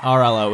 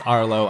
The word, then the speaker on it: Arlo: and I'm reminded to never pronounce that name wrong again it's not rlo it is Arlo I apologize and I